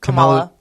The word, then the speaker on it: Kamala: And so this one is Kamala Khan, I think is, how do you pronounce it? Kamala.